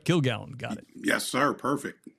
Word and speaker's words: Kilgallon: Kilgallon.